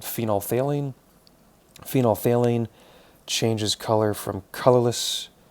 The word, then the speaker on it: phenolphthalein: It's actually not colored in a low pH, but once you hit a basic pH, phenolphthalein, spelled like phenol, and then PHTHALEIN, goes to a nice pink color once you hit a fairly basic pH.